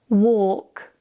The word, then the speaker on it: walk: When you have the combination of A and L together, the L is usually silent. For example, calm, half, talk, walk.